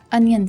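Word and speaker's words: onion: अनियन seeds, kalonji, अनियन seeds, kalonji. बहुत से लोग इसे ऑनियन बोलते हैं जो कि गलत प्रोनाउंसिएशन है।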